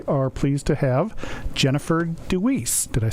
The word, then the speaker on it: DeWeese: But this week, we are pleased to have Jenifer DeWeese.